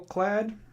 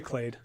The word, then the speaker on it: Clade: so next card is vorel of the hall clad right I'm pronouncing right Larry check it I say clade okay wait thank you